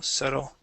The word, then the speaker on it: subtle: okay so uh subtle the B is silent instead of subtle it is subtle try that subtle good one more time subtle subtle good good nice